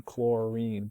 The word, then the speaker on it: chlorine: So even though this is spelled I-N-E, we still pronounce it fluorine, chlorine, bromine, iodine. This way it's different from fluoride, chloride, bromide, iodide.